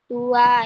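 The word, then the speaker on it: ตัว: Dan yang terakhir ada aksara konsonan topatak yang digabung dengan sara uwa yang dibaca di tua yang artinya badan atau tubuh.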